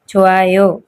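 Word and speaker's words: 좋아요: लगाते हैं आयो तो छु आयो अच्छा है छु आयो गुड अच्छा छु आयो छु आयो ओके हा यहां पर कंबाइन होकर प्रोनाउंस करेंगे छ आयो छ आयो छ आयो छो आयो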